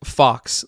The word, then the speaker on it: Fawkes: it's spelled Fawkes, but it is pronounced Fawkes, like Megan Fox or Michael J. Fox.